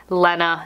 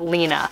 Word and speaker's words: Lena: storage bag and then it also says the pronunciation Lenna not lena so yeah i'm really